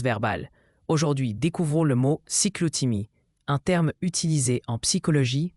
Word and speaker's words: cyclothymie: Cyclotimie se prononce cyclotimie.